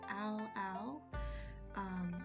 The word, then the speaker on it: Aoao: His name is pronounced Aoao.